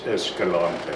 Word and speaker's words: Escalante: very well all right escalante escalante it's escalante if you if you say escalante to a spanish person they will look at you like you are a